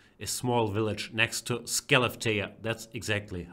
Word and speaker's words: Skellefteå: doggy the biggest celebrity is small village next to skellefteå that's exactly how to pronounce in Sweden has ever produced in the